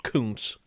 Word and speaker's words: Kuntz: Yes, I know it's pronounced Kuntz. It could be pronounced something else, but it's YouTube.